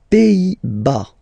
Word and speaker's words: Pays-Bas: Les Pays-Bas. Final S here, not pronounced.